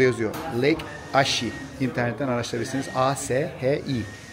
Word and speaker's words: Ashi: A-S-H-I. Ashi diye okunuyor.